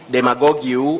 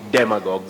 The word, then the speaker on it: demagogue: he was asking me do we say demagog you or demagog then I told Rashid we say demagogue so some of these